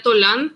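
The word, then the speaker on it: Tollan: la vendría a ser una palabra derivada del náhuatl que se se pronunciaría tolán Y si viene a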